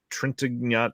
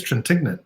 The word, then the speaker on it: Trintignant: Interview with star Jean-Louis Trintignant. I've never been able to say his name properly. Were you going to say it? I think it's Trintignant, isn't it? Trintignant? Okay, just exactly how it's spelled then.